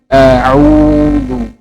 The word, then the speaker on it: أعوذ: Dhamma itu sempurna u. A'udzu. Tidak boleh miring ke o.